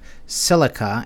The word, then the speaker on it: Zilliqa: So another one I'm keeping an eye on is Zilliqa, which is actually pronounced silica, as in silicon or silica dioxide, you know, like the little grains of sand, silicate.